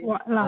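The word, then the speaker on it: واعلم: i'lam Ketika ketemu wa, hamzah wasol jadi apa bacanya? Aslinya kan wa'lam i'lam, tapi wa'lam Wa'lam.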